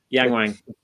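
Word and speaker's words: Yangwang: uh is it Yang I always get the name wrong the Yang Wang yeah that's it the they two cars there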